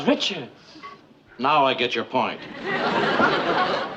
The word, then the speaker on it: Richards: Her name is Richards.